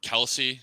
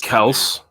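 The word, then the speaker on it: Kelce: and yeah you jake kelsey obviously at center that's kels they said that um the travis and jason said that their last names being being pronounced wrong forever it's really kels but they don't give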